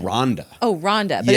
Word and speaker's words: Randa: But her name Oh, her name's Randa. Rhonda.